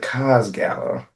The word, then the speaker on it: Cos Gala: So, but tell us about the Cos Gala. Yeah. Am I saying that right? I don't. Yes, you are saying it right. You're saying right.